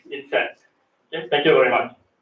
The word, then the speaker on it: INCET: But finally, today, I'm very happy to be able to come here to join this 2024 Incet, or how do you pronounce it? Incet.